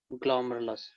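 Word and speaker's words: glomerulus: This is pronounce as ग्लोमेरुलस.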